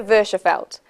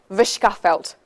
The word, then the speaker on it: Verschaffelt: My name is Versefeld, but you could correctly pronounce that Vishkafelt.